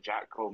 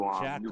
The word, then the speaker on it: Jatco: new Jackal or Frontier. Jackal? Jatco. JACTO. Uh, no, Jat, and then Co.